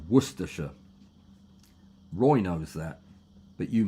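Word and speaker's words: Warwickshire: Greetings from Warsshire. That's not how you pronounce it. It's Worersha.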